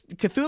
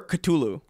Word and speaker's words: Cthulhu: It's Cthulhu or Cthulhu is like the two pronunciations.